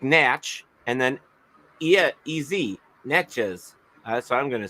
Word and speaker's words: Natchez: Natchez, maybe. And N-M-S, N-A-T, like Natch, and then E-Z, Natchez.